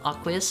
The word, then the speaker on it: aqueous: Believe it or not, aqueous is pronounced with a long A.